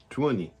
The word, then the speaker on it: Tuoni: So you actually do pronounce like all the vowels. Yeah. You just have to do it in like 1-2 syllables.